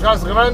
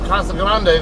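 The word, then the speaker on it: Casa Grande: Grande that is or a lot of people there will call it Kasa Grand or Cas Grand or however you want to pronounce it the proper Spanish way is kasag Grande though uh it's about halfway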